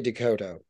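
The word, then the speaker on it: DeCoteau: said his name in different ways is it Dakota you know how do you say David's name uh it depends he would say Dakota Dakota okay uh but he goes by David Dakota that's fine okay he's not he's not a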